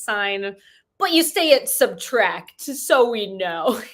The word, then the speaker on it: Subtract: album titled with simply a minus sign, pronounced subtracted, or pardon me, just subtract, which is by what artist?